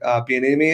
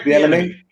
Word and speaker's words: Bieniemy: And luckily they have Andy Reid there and Eric Bieniemy, I believe is how you say his last name. Eric Bieniemy.